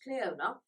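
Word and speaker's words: Clionadh: it is c-l-i-o-n-a-g-h but apparently it's pronounced Cleona they are denying their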